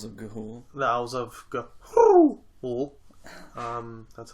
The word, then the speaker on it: Ga'Hoole: The Owls of Ga'Hoole. That's how it's pronounced.